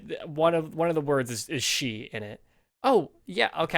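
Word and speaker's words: sídhe: Like if you see like SIDHE, right? You'd think that's pronounced like side or Sid. It's pronounced she.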